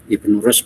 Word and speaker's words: Ibnu Rushd: Oke, Lutfi Ulansari, Ibnu Rushd, ya, Ibnu Rushd bacanya.